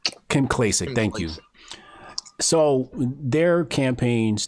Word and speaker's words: Kim Klacik: And it's in regards to Angela Stanton, Kim Classic, I forget her name. How do you say her name? Kim Klacik, thank you.